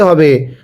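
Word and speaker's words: ه: এই হাটা উচ্চারণের সময় কিন্তু আবার গলার মাঝখান থেকে আওয়াজ করে পড়তে হবে।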